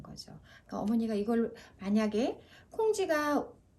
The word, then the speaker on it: 콩쥐: 근데 우리 친구가 읽다가 콩쥐를 꽁쥐라고 읽어요. 그럼 너 콩쥐 모르니?